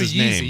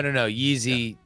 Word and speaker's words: Yeezy: But if you do Yeezy, you don't say Yeezy. You don't say Yeezy. No. Yeezy. One what jumps over Jumpman. Yes. Okay. So Yeezy, not Yeezy.